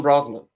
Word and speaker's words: Brosnan: Siobhan Brosnan. I keep saying Bronson.